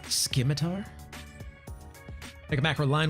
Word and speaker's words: Scimitar: It's pronounced Scimitar.